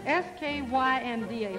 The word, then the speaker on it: skynda: Listen, Ingemar, there's one word in there I have to be, I've been trying to pronounce. S-K-Y-N-D-A.